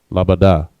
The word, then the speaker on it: labada: And that word is labada. La, ba, and da. None of the letters connect. Labada. All right.